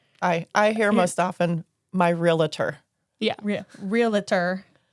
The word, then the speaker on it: realtor: But I mean, I guess in this way, it really just is realtor. Like that's Yeah. the proper way to say it.